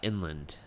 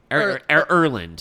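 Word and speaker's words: Erlend: Okay, Vergard and Inland. Erland.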